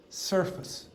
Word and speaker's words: surface: But in English remember if you have multiple s uh syllables in words one of them at least is going to be weak. So the pronunciation that I would produce is surface.